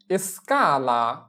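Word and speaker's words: escala: তাহলে এস এর উচ্চারণ হচ্ছে এস, চি আ কা, এসকা। যেমন এসকালা এসকালা এসকালা মানে হচ্ছে সিঁড়ি, এস চি আ এসকা, এল আ লা, এসকালা মানে হচ্ছে সিঁড়ি।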